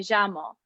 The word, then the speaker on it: llamo: However, in Argentina, it makes a sh, like a sh, a sh sound. So words that we've seen before, such as me llamo, which means my name is, would be pronounced me llamo. And the word, for example, la playa, as we've learned, that's the word for beach, would be la playa.